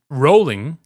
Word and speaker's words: Rollin': The first battle is Rollin'. Drop that G. Don't say it like a white person.